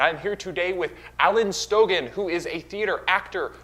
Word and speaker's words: Stogin: I'm going to start with saying it's pronounced Stogin.